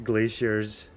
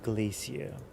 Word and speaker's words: glacier: If you know, you know the glaciers. Wait, is that how you say glacier? Okay, that's more of a depending on whether you do British or American pronunciation. Glacier or Glacia.